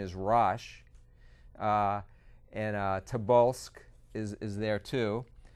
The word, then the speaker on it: Rosh: in the Bible, in the King James, the pronunciation is Rosh, and Tobolsk is there too.